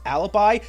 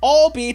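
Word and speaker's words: Ahlbi: This goes out to my homies who still pronounce his first name like it's Alibi. It's Albie to complete the pun, I'll be your guide.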